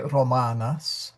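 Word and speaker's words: Rōmānōs: Now he may uh emphasizing a little bit, but yeah, you should say Romanos. Romanos uh marus. There's an R role in there.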